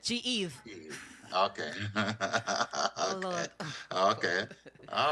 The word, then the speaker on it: G-Eve: Okay, so the pronunciation of my name is G-Eve. G-Eve. That's it, G-Eve.